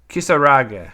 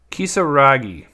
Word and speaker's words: Kisaragi: All right, so then we also have Yuffie Kisarage. No, I butchered that. Kisaragi.